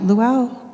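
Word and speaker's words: Lalu: Now, the Rosalind Chow, Luau, that's how they say her name, she was set off on a journey unwillingly and unwittingly.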